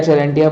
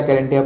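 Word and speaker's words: charantia: ठीक है, या चेरेंटिया पढ़ लीजिए या कैरेंटिया पढ़ लीजिए, आपको जैसे भी आप चाहें प्रोनाउंस कर सकते हैं।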